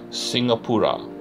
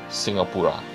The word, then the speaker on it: Singapura: Singapura. This is the Malay spelling and the Malay pronunciation of Singapore. Singapura, Singapore.